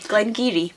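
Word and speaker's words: Glen Garioch: in the Northeast abure so that's not Gary it's giri Glen giri and you wouldn't possibly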